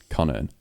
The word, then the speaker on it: Connearn: So, for those listening, my surname is Connearn, right? Connearn, which is basically like Connor with an N on the end. That's how you pronounce it, Connearn.